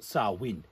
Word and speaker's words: Samhain: It's a Celtic word.